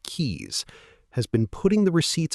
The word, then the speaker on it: Quix: Celestia Quix, pronounced Keys, has been putting the receipts on the table for so long that the table itself is now evidence.